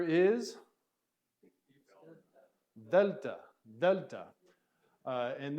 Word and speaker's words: Delta: is Delta Delta and this is kind of a D sound but it's kind of a breathy D sound so you're using your tongue a little bit Delta Deltas kind of the as we talked about the th in the the delta all right